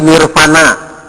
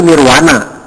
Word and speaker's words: Nirvana: Seperti Nirvana. Bukan dibacanya Nirvana, tapi Nirwana. Ditulisnya V, dibacanya W. Nirwana.